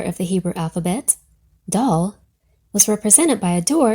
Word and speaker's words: Dal: It just so happens that the fourth letter of the Hebrew alphabet, Dal, was represented by a door in its earliest form. Pronounced Da, this letter is the modern equivalent of D, delta in the Greek, or Dalet in the modern Hebrew.